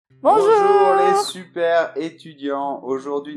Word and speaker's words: bonjour: je vous le répète, on fait bon jour. D'accord, le R se fait là, jour. Bonjour.